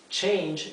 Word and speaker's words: change: Change, esta E no se pronuncia.